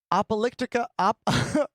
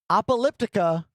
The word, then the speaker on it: Apocalyptica: Appalyptica. Sorry. Apocalyptica. Am I saying it right? They're a cello band. Interesting. Okay. It's like Apocalypse, but also Elliptica.